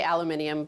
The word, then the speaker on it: aluminium: No, it's the aluminum, or as the British people say, aluminium. Yes, the British say aluminium, but it's aluminum.